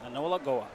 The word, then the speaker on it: A'nowara'ko:wa: in Akwesasne at the Turtle Dome, or the Anola Goa Arena. Anola Goa Arena? Yes, Anola Goa.